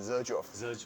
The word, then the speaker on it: Xerjoff: 色乔夫，因为它是念 Xerjoff。